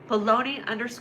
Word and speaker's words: bologna: So, bologna and it's spelled like this. Bologoney. baloney sandwich show.